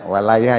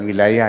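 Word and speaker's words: وَلَايَة: Ya, walayah ya, dibacanya bukan wilayah ya. Kang Im. Ya, walayah ya, bukan wilayah. Ya, dibacanya walayah.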